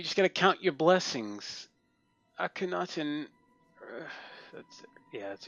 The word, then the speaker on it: Akhenaten: Akhenaten, that's yeah, that's how you pronounce it.